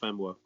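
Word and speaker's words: Famewo: He doesn't pronounce the E, so it tends to be pronounced Famuwo.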